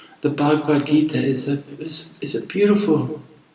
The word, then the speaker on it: Bhagavad Gita: an explanation because I the information I gave you was the pronunciation was not correct so introduction Redux the next thing I wanted to talk about is I mentioned the bhagwat gita the Bhagavad Gita is